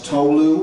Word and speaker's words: Tolu: All you have to do to pronounce Tolu, it's 2 syllables, is just have an